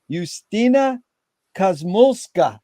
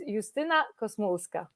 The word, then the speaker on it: Justyna Kosmulska: correctly and I apologize tell us how to correctly pronounce it please that that was correct that was beautiful thank you Jerry my name is eustina cosmoska and I'm ringing from